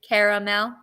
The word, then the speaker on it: caramel: it I was like I think I leave the A out I say I mean I say it like caramel so JD you you pronounce the a caramel um you're good okay so you're doing it right I I like I